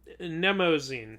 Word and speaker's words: Mnemosyne: I dare you to pronounce Mnemosyne. Mnemosyne.